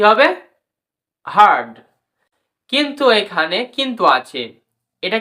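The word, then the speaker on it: hard: আর এম ফারম এইচ এ আরডি কি হবে হারড কিন্তু এখানে কিন্তু আছে এটা কিন্তু আমেরিকার কান্ট্রিতে এটি একটু আর লেটার উচ্চারণ শোনা যাবে কিন্তু ব্রিটিশ কান্ট্রিতে বা ব্রিটিশ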